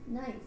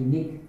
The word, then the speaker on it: NIC: Nice. If you were pronouncing, it's actually Nick.